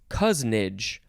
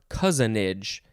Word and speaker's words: cousinage: It is cousinage or cousinage. 2 syllables or 3 syllables. So we just added age to the end of cousin.